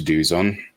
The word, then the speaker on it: Douzens: Well, you can see if you wish to go to Duzon, which is spelt, I suppose, if you look at it, dozen, Douzens.